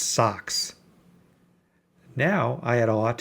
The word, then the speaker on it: SOSCS: My wife promptly named it SOSCS, stands own Sphere computer system, pronounced socks.